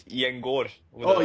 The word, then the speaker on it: Gjengaar: It's Gjengaar with Oh, a O, Gjengaar. Oh, Gjengaar, my but bad. yeah, it's good enough. Because I know, we usually say Gengar, right?